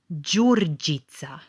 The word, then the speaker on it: Đurđica: Đurđica.